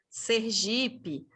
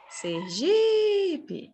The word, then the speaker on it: Sergipe: muito bem boa pessoal Sergipe não é Sergipe é paroxítona olha aqui gente na